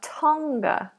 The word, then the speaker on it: Tonga: double check we have oh no so we don't release that g Tong Tonga Tonga so we make it into a nasal at the back and then the release comes ever so slightly as we go into the schwat ending Tonga Tonga Tonga anyone